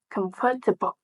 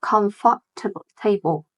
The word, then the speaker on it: comfortable: Comfortable. Yes, not comfortable table, right? Comfortable.